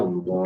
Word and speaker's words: Allah: Ya tadi kalau dari domah atau fathah dibacanya tebal, itu namanya tafkhim. Dibaca tafkhim namanya Allah itu tafkhim itu. Allah. Tapi kan Allah itu tafkhim, tapi billah itu tarkhim itu tipis. Nah, itu contohnya.